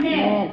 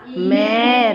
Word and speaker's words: mare: मैर, क्या हो गया? मैर, अब अपनी आवाज कहाँ पे रुक गई? R पर, क्योंकि अपन की आवाज यहीं रोकनी है। ये बिल्कुल साइलेंट, तो क्या होगा?